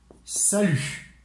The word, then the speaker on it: salut: You can also apply salut. Salut. Salut. So we don't pronounce the T.